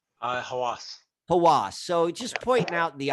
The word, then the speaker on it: Hawass: How do I pronounce his name? Hawass. Hawass.